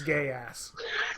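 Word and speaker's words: Code Geass: gears I don't know I think it's gay ass yeah the first vowel does the talking second one does the walking oh look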